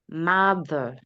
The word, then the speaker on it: mother: daughter, mother, Do not pastor, make the O sound in mother. Do not make it long.